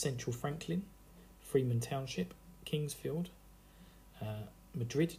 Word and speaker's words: Madrid: Franklin Freeman Township Kingsfield Madrid Township pronounced Madrid no not like to see in Spain I immediately called it